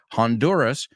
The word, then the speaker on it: Honduras: uh in Honduras actually Honduras we pronounce the h Honduras she was this is